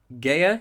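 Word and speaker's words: Gaear: you pronounce this yeah it's a weird one in it get gear g-a-e-a-r gaia yeah gaia grimsrud gaya grimsred okay yeah quite similar to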